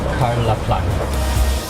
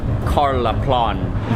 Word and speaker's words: Karlaplan: Hello, quick ride for 2 to Karlaplan. We made it to the station. I think I was mispronouncing it before. It's more like Karlaplan.